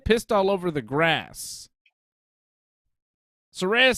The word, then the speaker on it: Saraya: Saraya. Did I say it right? You got it right. Yeah. Shit. So, Ruby, Saraya, and Tony Storm.